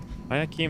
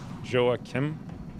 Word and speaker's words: Joakim: that's actually really weird i keem is how my american high school principal mispronounced my middle name at graduation well what's your middle name oh joakim joakim ayakem oh that